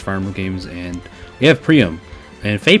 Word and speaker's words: Priam: of my first farmer games and we have priyam and faye pronounces it priam which i will never pronounce it like that